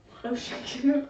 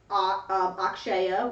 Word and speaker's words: Akshaya: Oshenko. It's Akshaya, which is spelled Akshyaya.